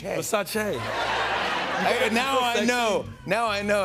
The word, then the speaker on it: Versace: Yeah, you immediately know that it's pronounced Versace. Versace. Now I know how sexy it is. Yeah. It's Versace.